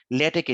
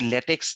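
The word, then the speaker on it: LaTeX: ইজ it's extremely easy, লেটেকে লিখেন। উচ্চারণটা হচ্ছে লেটেক্স নয়, লেটেক। টেক্সটাইল ইঞ্জিনিয়ারিং আপনাদের আছে, উনারা হয়তো বলবেন যেটা লেটেক্স, কিন্তু আসলে যিনি এই লেটেক বানিয়েছেন উনি বলেছেন টেক বা লেটেক। সেই ক্ষেত্রে আমরা লেটেক বা টেক বলবো।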